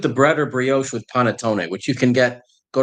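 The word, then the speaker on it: panettone: also does Desserts here I'm going to not pronounce that right Panton bread pudding oh P oh paneton Paton thank you yeah yeah yeah yeah no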